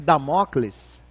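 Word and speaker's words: Dâmocles: Jorge que é esse nome é muito de pronunciar é damocles damocles então vamos entrar na historinha isso a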